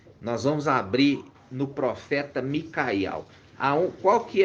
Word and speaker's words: Miqueias: Então se pronuncia Micaial, e Mica significa o que, irmã Adriana?